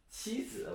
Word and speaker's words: 妻子: distance between the two places, then you would pronounce qi. Anyway, so let's make some examples. The first one is 妻子, which means wife.